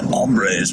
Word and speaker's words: hombres: of course I think the correct pronunciation in Spanish it's like hombres but here we sort of Californian eyes everything so it's mambre obviously has a lot of